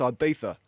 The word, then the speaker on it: Ibiza: It's not Ibiza, it's Ibiza. Got pulled up on that too. What are you doing? You're a full-time professional athlete. Your women's team is playing and you're off in Ibiza, carrying on, whilst the